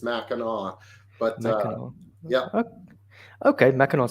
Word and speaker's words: Mackinac: yeah and that one the the sea is silent it's a Michigan thing it's Mackinac but no yeah okay